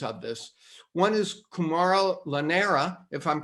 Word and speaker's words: Llanera: of the founders of this one is camaro lanera if i'm pronouncing your last name right yes yeah and